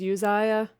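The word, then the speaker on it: Uzziah: around the end of utsayah's reign and you can see that's also sometimes pronounced as yuzaya also azariah he was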